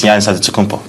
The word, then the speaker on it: Antetokounmpo: But in the Greek way, you say with the NT, like Antetokounmpo. Whatever you got, just say, it's Giannis Antetokounmpo.